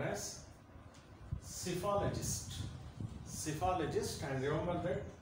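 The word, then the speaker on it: psephologist: And our today's word is cephalologist. Cephalologist. It is a noun. And the first P is silent.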